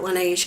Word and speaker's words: Laneige: I pronounce it Laneige because it looks, I know it's like, I think it's like South Korean or something, but it looks kind of French to me. So there's no accent, but anyway, that's how I pronounce it, Laneige.